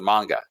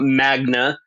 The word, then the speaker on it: manga: for your I believe it's pronounced uh ma m manga Magna Magna Magna called mag it's mag I'm 110% sure it's not Magna you know G read